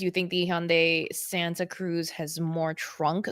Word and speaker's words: Hyundai: pronounced car brands okay it was Hyundai H Yu n d a i is Hyundai I think there was a few other brands that I'm like wow Americans pronounce is really I mean Toyota is hiota um Kia is Kia which is pretty easy but like Hundai always like conf confused me um yeah I've heard Hyundai